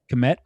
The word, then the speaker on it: Kmet: Kmet.